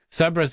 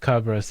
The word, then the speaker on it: Cerberus: Cerberus is how we pronounce it in the UK. Cerberus is more Greek.